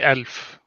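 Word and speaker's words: ألف: yeah slightly different yeah how's it how's it pronounced you say elf so the uh the stresses on the L I guess four thousand yeah interesting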